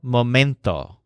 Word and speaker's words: momento: every moment or todo momento the word momento with a stress on mint like mint means moment and it's